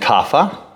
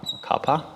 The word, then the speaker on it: Kapha: words and they're called doshas vata pitta and kapha kappa depending on who's pronouncing it and these things they that they